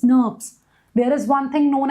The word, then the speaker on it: snRNP: So, or you can call them as SNRPs. That's how they are pronounced, SNRPs.